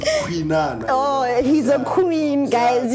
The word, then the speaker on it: Khwinana: So the way you pronounce it, it's easier for people to pronounce it with Khwinana.